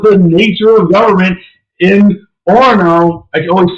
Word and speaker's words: Orono: That was the nature of government in Orono. I can always say the name wrong. Is that right? Orono. Yeah, you don't say the second O because it's one of those weird Minnesota words.